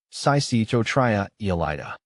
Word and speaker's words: Psychotria elata: isn't too difficult though break it down like this sa Tria Ela but if you find